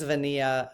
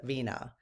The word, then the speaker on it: Venia: one of the things Venia uh Vina I think it's Vina um it's spelled Venia but she pronounces it Vina um I wrote in